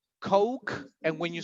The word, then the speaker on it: Coke: So pronunciation in this case is oak instead of o, right? So Peter, you were drinking what? Coke. Again? Coke.